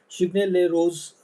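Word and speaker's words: Chigny-les-Roses: Chigny les roses roses it's pronounced as rose. Chigny les roses indicates the uh village you know where the vineyards are located.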